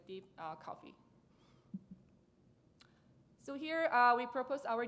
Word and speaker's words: DeepCoFFEA: feature extraction and amplification in short deep coffee so our tank is never ever related to coffee but you can pronounce it as a deep coffee so here we propose